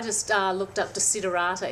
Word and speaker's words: Desiderata: download it i just looked up to see durata it's spelt de SI de ra ta but those